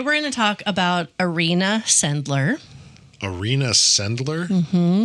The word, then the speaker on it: Irena: Like arena you play football in, but a person's name spelled the same way, like Irena. Oh, is it Irena? I guess. Is it not Irena? I don't think it would be Arena. It would be Irena.